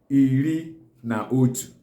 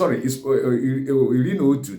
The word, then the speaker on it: iri na otu: How do you pronounce it in Igbo language? It's pronounced as Iri na Otu. It's Iri na Otu, that is 11.